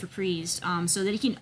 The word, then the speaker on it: Reprise: fully artist-owned label um reprise records that is how it's pronounced reprised um so that he